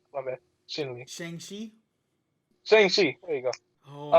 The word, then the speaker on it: Shang-Chi: And then like and then we're getting Shen Li, or Shin Li. My bad, Shin Li. Shang Chi.